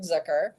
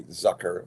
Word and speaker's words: Zucker: my favorite comedy writers of all time David Zucker he I'm so honored to have you um well thank you for pronouncing my name right really I did this Zer a lot of people say Zucker all my high school teachers always said Zucker